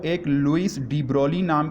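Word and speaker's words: de Broglie: ये स्टूडेंट्स, ये अक्सर बच्चे इसको डी ब्रॉगली पढ़ते हैं, तो इसमें जी को आपने साइलेंट करना है, जी इज़ नॉट अटर्ड, ये जी को आपने पढ़ना नहीं है, तो डी ब्रॉली, डी ब्रॉली, ठीक है।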